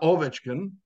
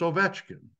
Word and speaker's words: Ovechkin: was the correct pronunciation because the middle syllable is always accented on a 3-syllable Russian last name. It's not Ovechkin, it's Ovechkin, right? Simple.